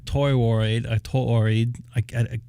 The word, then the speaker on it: toroid: Says the MFJ only uses one toroid. Pardon me if I didn't pronounce that right.